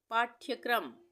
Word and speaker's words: पाठ्यक्रम: पाठ्यक्रम, पाठ्यक्रम, इसको हम कैसे पढ़ सकते हैं, पाठ्य अलग और फिर क्रम, पाठ्यक्रम, पाठ्यक्रम। यहाँ पे पाठ्य में ठ का उच्चारण आधा आ रहा है तो यहाँ पे ये हलंत लग जाएगा तो ठ आधा हो जाएगा, ठीक है, तो ये हो गया पाठ्यक्रम।